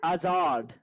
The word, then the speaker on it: Hazard: So I think Seb's about to have a heart attack about the way you just pronounced his name. Hazard.